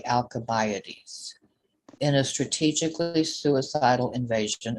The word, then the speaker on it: Alcibiades: ward, the radical democrat, I think it's pronounced Alcibiades, but I don't know why it's a K. Quan, is it Alcibiades or Alcibiades? Both are correct, okay? Depending if you choose American or British pronunciation.